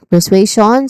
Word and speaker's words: persuasion: Starts with pur which is a short uh vowel sound and then sway which is a a dip thong sound. A. So we have sway which is a you know stressed syllable or yeah stressed syllable here.